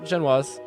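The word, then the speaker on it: génoise: A Genoise? Genoise? That's what that word looks like it said. Oh, I said it right. Genoise.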